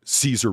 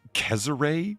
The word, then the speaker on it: Cesare: But you get when you hear that, it's like people say like Caesar Borgia, and it's like actually it's Cesare Borgia, I guess would have been the way that you would have said it.